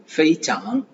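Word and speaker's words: 非常: ஃபெய்சாங், ஃபெய்சாங், F-E-I, ஃபெய், C-H-A-N-G, song, ஃபெய்சாங், ஃபெய்சாங், ஃபெய்சாங்.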